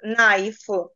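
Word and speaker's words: knife: в англійській мові зустрічаємо слово яке починається з літери K а потім іде н н да то ми читаємо тільки з н стає німою літерою тут Тому ми вимовляємо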